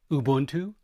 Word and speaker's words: Ubuntu: So again, Ubuntu, which for those of you who railed on me about mispronouncing it, that's for you.